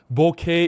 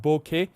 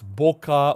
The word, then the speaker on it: bokeh: And in case you guys are wondering, bokeh is the correct pronunciation, bokeh. I don't know why some people pronounce it as boka or boka or bo.